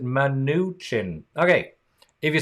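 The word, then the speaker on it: Mnuchin: that I'm in and you pronounce it man new chin okay if you say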